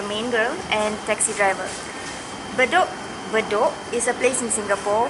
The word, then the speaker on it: Bedok: the word Bedok, but she still pronounce it bed okay because Bedok is the word Bedok is not included in her language, so maybe she cannot pronounce it, or she just couldn't get the word. Right. So the only way for her to read the word is to separate the word from bed, bed, okay. So she thought is the correct way to pronounce it, but it's not.